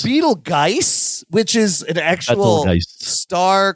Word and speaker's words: Betelgeuse: the juice, but like it's really spelled Betelgeuse but pronounced juice.